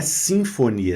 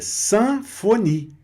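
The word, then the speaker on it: symphonie: Sanfoni. Não é sinfonia, é sanfoni.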